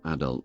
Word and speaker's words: adult: The three boys stood in the darkness, striving unsuccessfully to convey the majesty of adult life. In British English, the first syllable is stressed, as in adult, while in American English, it's the second syllable.